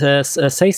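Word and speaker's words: SACEM: uh talking about uh YouTube and SE or sasm depending on how you pronounce it which is the French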